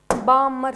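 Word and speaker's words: Balmer: Okay, next बामर series. ये L silent होता है, बामर सीरीज बोलते हैं इसे।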